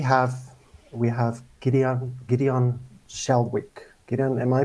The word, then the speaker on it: Shalwick: so today we have we have gideon gideon shalwick am i pronouncing your surname correct you sure are thank